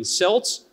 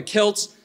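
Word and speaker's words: Celts: speaking of the European selts as some people confusedly do but instead here I'm pronouncing that hard K the way I think that it absolutely should be talking about the Kelts and the Romans is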